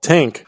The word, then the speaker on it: Tangk: And it is Idol's latest album called Tank. It is spelled Tangk.